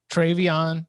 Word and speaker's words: Travion: Travion Henderson. It's spelled like Treveyon. So if Google autocorrects you, go with it.